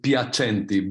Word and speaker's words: Piacenti: HIPAA Association Mr piercente I hope my pronunciation is correct my surname is piacenti by the way okay yeah yeah yeah it's Italiana that's it exactly okay